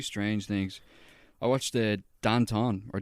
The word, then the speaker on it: Danton: things i watch the danton or danton as it's pronounced in french what the [ __